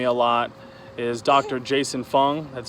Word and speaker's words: Fung: Jason Fung, that's spelled F-U-N-G, Dr.